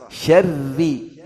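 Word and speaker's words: شر: Ri, ra tasydid kasrah. Syarri, tipis. Jangan syarri, syarr, syarri. Jangan syarr, syarr, syarr. Nah, tipis. Syarri.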